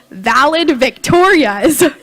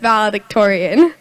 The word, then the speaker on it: valedictorian: startled to see that one page was titled valid Victoria's my mom seemed corrected me and I learned that it's pronounced valedictorian ever since that day I wanted to be